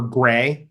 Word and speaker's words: GREI: repository ecosystem initiative uh or gray as we like to call it um because you always need a pronounceable acronym um what is gray